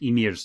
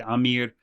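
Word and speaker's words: Ymir: little bit of story I mispronounced emir's name I said Amir and then um what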